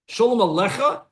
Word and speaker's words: Shalom Alecha: Shalom Alecha. That's the correct way to do it.